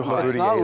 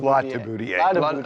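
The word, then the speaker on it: Latibeaudiere: It's not Leboudier, it's Latiboudier. Okay, then you know what?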